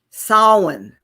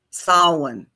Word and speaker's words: Samhain: And I'm going to try to pronounce this without problems here. Happy Samhain. Samhain.